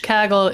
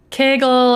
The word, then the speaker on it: Kaggle: the explanation is that in australian english kaggle is unambiguously pronounced kaggle apparently however when anthony goldblum moved to the united states he found out that americans will sometimes say kegel or kegel or something a little bit closer